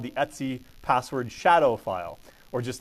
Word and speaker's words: etc: can in UNIX speak we pronounce that as Etsy just like that with that website maybe that's where they